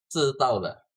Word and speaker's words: 知道了: But actually it's like the correct pronunciation is actually 知道了. That very simple one.